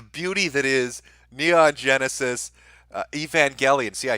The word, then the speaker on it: Evangelion: a spine the beauty that is Mia genesis evangelion see I said it right Evangelion well that